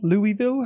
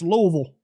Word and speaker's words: Louisville: But I believe it's pronounced Louisville.